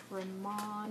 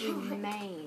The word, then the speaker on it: remain: You might want to pronounce it Ramon or something like that, but it's remain. It's a long A sound.